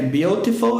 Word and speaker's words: beautiful: na maioria dos casos, quando o T está entre vogais, ele passa a ter o som do R em português, igual na palavra bonita, que escreve beautiful e pronuncia-se no inglês americano beautiful.